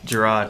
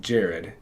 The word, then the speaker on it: Jarod: So, if you like to be called and it pronounced Jarod, then you have the correct spelling, Jared. Thank you. Right? But if you like when people call you J-Rod, then I have the right spelling.